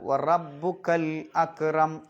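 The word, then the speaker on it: وربك الأكرم: പിന്നെ അക്രം അവിടെ ശ്രദ്ധിക്കാനുള്ളത് വറബ്ബുക്കൽ അക്രം ആ അലിഫിന് ഉച്ചാരണം ഉണ്ടാവില്ല ലാമിന് ഉച്ചാരണം ഉണ്ടാവും പിന്നെ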